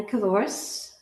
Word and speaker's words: Cavouras: Kavoris rhymes with dinosaurus.